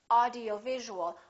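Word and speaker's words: audio-visual: like this audio visual audio visual has six syllables audio visual in that case you really it's very important to know which syllable is stressed in this case it's going to be right here audio visual audio visual how do we stress the syllable we make it longer and louder and higher in Pitch audio visual now let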